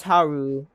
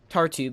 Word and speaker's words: Tartu: Something that is a bit annoying, because Taru, let me pronounce his name better, Tartu, because Tartu does not have a port, it is not possible to feed your units in this way.